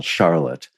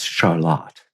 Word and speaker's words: Charlotte: Here in Vermont, there's a town that I would call Charlotte, but for some reason, of course, we're right near Quebec. It's Charlotte.